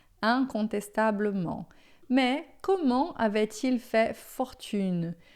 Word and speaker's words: incontestablement: Si c'était un homme riche, incontestablement, incontestavelmente. Un, tá? Lembra sempre, in é sempre un, incontestablement.